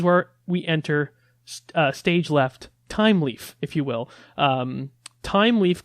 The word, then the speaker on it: Thymeleaf: pronounce time leaf yes time leaf is spelled with th ym e some some people might pronounce it with you know they might pronounce it as a fine leaf like th is the you know whatever like the first sound or whatever so yeah it's pronounced time leaf like time well I'm saying it